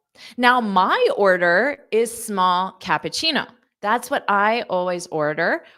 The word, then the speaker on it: cappuccino: So the ending sound has that chino, chino, chino, chino, pacino, pacino, kappa, kappa, Cappuccino.